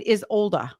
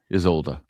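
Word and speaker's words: Isolde: Isolda. Um I had to look it up because it's not spelled the way that you know you would think.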